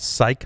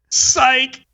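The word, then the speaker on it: SIKE: be honest anyway because it's way easier to say psych than s-i-k-e so so was it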